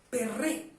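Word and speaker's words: פרי: a una palabra fruto fruto en hebreo se pronuncia pérez y pérez significa producto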